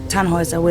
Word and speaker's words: Tannhauser: what's your name Tannhauser we pronounce it tan was away the long load German